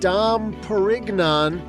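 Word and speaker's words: Dom Pérignon: Way back in 1697, a monk named Dam Perignan, and I have it on good authority, that's the way he pronounced it.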